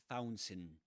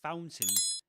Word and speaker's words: fountain: So we wave fountain. this fountain in the transfiguration courtyard. And that's an interesting word. Fountain. Fountain. In fountain, you don't pronounce the a.